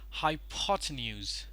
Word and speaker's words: hypotenuse: one over here is pronounced as hypotenuse hi Potter news ends Witter Vizier high pot news hypotenuse once again high power tip news